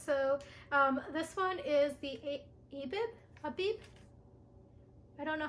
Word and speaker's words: Abib: So this one is the Abib? I don't know how to pronounce this. Oh, okay, it's Abib.